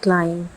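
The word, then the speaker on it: climb: जैसे पहला क्लाइम, साथ में मैंने प्रोनाउंसिएशन भी लिखी है।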